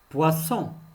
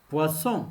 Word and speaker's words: poisson: prononcent êtes maintenant pour qu'il se prononce s il faut ajouter un autre s puissant c'est à dire